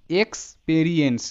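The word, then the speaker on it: experience: এর যে সঠিক প্রোনাউন্সিয়েশন সেটা এভাবে করতে হবে, এক্সপেরিয়েন্স। দেখো এক্সপেরিয়েন্স এভাবে কিন্তু পড়লে হবে না, এটাকে পার্ট ওয়াইজ পড়তে হবে সিলেবল অনুসারে, এক্সপেরিয়েন্স, এক্সপেরিয়েন্স।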